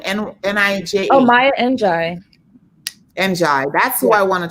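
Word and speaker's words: Njie: Oh, Maya Njai.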